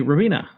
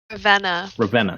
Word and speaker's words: Ravenna: Okay, Ravina. How am I saying? Tell me, I'm probably saying that wrong. Is it Revena or Ravina? How do you say it? Ravenna.